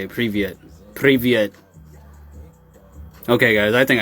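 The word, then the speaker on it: Привет: Privyet. That's right. That's how you say it. Privyet.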